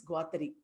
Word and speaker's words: Guattari: And ecosophy is a term coined by Felix Guattari. Remember, not Giles, it is pronounced Gilles.